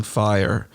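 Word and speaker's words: Fyre: Is it called Fry or Fire Festival? What was it called? I think it's Fire. Fire or Fry? Spelled in a bizarre fire, way. But it's Fire, but it's spelled with a Y-R-E.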